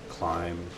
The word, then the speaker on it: climb: Does it ever bother you that in English there are words that end at B's that aren't pronounced, like bomb and climb?